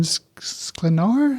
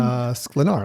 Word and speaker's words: Sklenar: date, played by Brendan Sklenar, I think is how you say his last name. Sklenar.